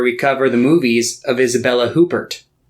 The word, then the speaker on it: Isabelle Huppert: i think the uh i don't think they pronounce the first stage i think it's up here or yeah isabel upair i'm i'm gonna sound